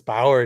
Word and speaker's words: Bauer: Bauer is Bauer. It's Bauer in German, of course it is. But you know, Americans always pronounce German names completely different.